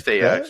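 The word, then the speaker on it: Taox: So I want to say Taux or Teox. I'm not sure how to pronounce it, so forgive me. I think it's Teox. Yeah, it's Teox.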